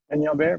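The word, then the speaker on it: Peñalver: roll the N's, but forgive me if I mispronounce it. Eduardo M. Benyalver? Benyalver, very good.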